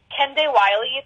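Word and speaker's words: Kehinde Wiley: artists my one of my big favorites is ken day wiley it's spelled k e h i n d e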